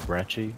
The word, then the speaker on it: Brecci: the brekkie looks also i'm pretty sure it's actually pronounced bratchy i think that's like the correct jesus i think brecci is the correct pronunciation but i just say brecky okay and i'm dead